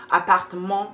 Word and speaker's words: appartement: And also, like a lot of word endings are not even pronounced, or are pronounced with a nasal sound. So you would say, for example, apartment, appartement. The writing doesn't correspond to pronunciation.